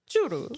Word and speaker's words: churro: That's the authentic way to say churro is churu. Churu.